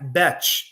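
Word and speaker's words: Bech: Jack BCH is how you pronounce it. I've heard some people say Beck. It's actually BCH. It's uh I guess it's a French pronunciation, but also from TCU.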